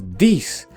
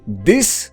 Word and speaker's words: this: nie o to chodzi mówiąc dis tak naprawdę mówimy to czyli liczba mnoga od wysp liczba pojedyncza wysp można powiedzieć po prostu this liczba mnoga wiz można